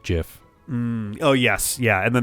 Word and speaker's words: GIF: that i saw was it's pronounced jiff oh yes yeah and